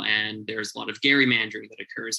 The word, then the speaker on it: gerrymandering: there's a lot of gary mandarin that occurs and that actually is how that word is pronounced gary mandarin i hate it too but apparently we have to say it so it's going to